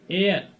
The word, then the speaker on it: heir: Then we use article an, such as an heir. A spelling of heir, H-E-I-R, that means Uttaradhikari. Here H is silent, so we use here an.